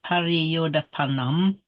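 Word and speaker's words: pariyodapanaṃ: You pronounce that O short, remember, pariyodapanam. Yeah. And in English, we'd tend to pariyodapanam, we'd tend to say, but remember, it's got to be short.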